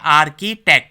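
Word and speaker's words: architect: भी बोलते हैं बेसिकली इसका जो राइट प्रोनाउंस है वो है आर की टैग आर की आर्किटेक्ट क्या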